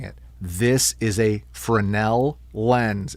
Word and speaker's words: Fresnel: The S is silent. It is a proper name. Goddamn it. And if you say Fresno, I don't care what your name is.